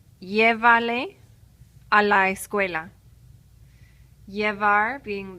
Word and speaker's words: llévale: So we have three syllables and we have to go back three.